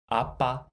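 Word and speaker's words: 아빠: And second syllable, what is the sound of this consonant? Yes, b. B. And the vowel is a. So, b, a, ba, a, ba, appa.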